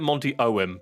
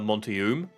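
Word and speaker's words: Monty Oum: I've always pronounced it Monty Owen, personally. But I know there's a lot of people who pronounce it Monty Oom. And I've never been sure which way is the correct way.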